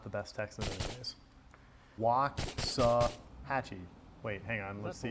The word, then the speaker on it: Waxahachie: Waxahachie. I should probably know this, given that I've lived in Texas my entire life, but I also don't own cowboy boots, so not the best Texan anyways. Waxahachie.